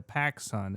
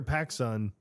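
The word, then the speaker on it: PacSun: I mean cuz when I hear Pacson it's just like I like I don't hear pack sun like P A C Su N like people are like oh I'm going to Paxton and it's like I just think of Bill Paxton like right away. I'm like that's stupid. Like I will go to the Pacific Sunwear.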